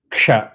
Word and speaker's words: ksha: For example, ksha அப்படின்னா k வரணும். Ksha. You cannot say ksa or sha.